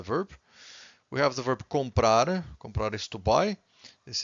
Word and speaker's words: comprar: Every time you have a word that ends with an R, you stress the final syllable, okay?